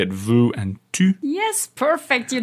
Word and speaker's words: vu: yeah cuz for years I was pronouncing them as if they rhymed which is obviously wrong it's not Vu and two everybody but that's what Kam